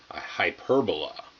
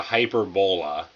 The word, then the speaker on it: hyperbola: is known as a hyperbola okay it's not a hyper bola I think it's a pretty common mistake but it's a hyperbola